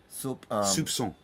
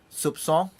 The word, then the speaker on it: soupçon: Soupçon. Soupçon. Yeah. How to pronounce this? With a s, like an S. Sir. Like an S. This is called a cedilla, actually. Cedilla, So yeah. Soupçon.